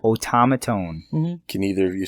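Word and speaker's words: Otamatone: thinking of yeah so that and then the automaton that's that japanese battery-powered instrument yes it's actually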